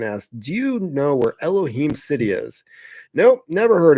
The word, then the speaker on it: Elohim: I did find out that Elohim, pronounced Elohim, was a Hebrew word for God in the Old Testament and used in the Christian covenant churches.